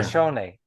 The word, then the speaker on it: Shoshone: Shoshone, Sh- sh- make okay, give that ne sound at the end of the word some voice. yeah, Shoshone.